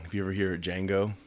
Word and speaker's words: Django: had a little scene because J is silent yeah yeah he's the original he was the guy sitting at the table that's a hell of a song if you ever hear a Django it's like the beginning